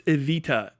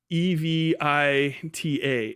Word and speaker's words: Evita: Also, it's Evita. E V I T A Evita Evita Peron Evita Pon Peron how you